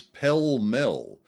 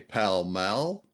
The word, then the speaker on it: Pall Mall: He got a lot of work there, and he pronounced the cigarette brand as Pell Mell. Now, Londoners would say Pall Mall, and I'd say Paul Mall.